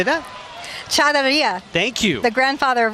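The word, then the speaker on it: charrería: Charreria.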